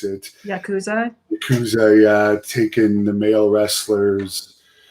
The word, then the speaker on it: Yakuza: Now, we've heard all the stories of the Yazuka, or I don't know how you pronounce it. Yakuza, yeah, taking the male wrestlers out for fancy dinners and to massage parlors and stuff.